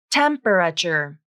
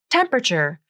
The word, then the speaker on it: temperature: is 80 degrees temperature it looks like it should be four syllables temperature but it's not it's temperature three syllables and the a is dropped from the pronunciation temperature notice how the